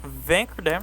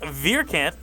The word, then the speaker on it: Vierkandt: It's none other than Rick Vancer. Hello Rick. How are you today? Good. How are you Michael? Oh great. Just tripping over myself. So the the correct pronunciation of Rick's name is Rick Vercant.